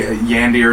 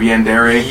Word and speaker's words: yandere: It is because I accidentally say Yandir instead of Yandere.